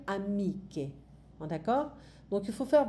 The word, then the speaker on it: amiche: Parce que normalement, on ne va pas dire amici, on va dire amiche.